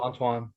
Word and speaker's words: Antoine: How do you spell Antoine? Oh, Antwan. Oh, okay, just like it sounds.